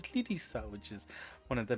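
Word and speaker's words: リリサ: It says Yuwaku there, but apparently you pronounce it as Lirisa, which is one of the main characters in the game.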